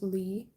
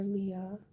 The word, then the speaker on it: Leah: But the traditional way of saying my name is Lee. So you guys can call me Lee or Leah. I like Lee. Lee is nice.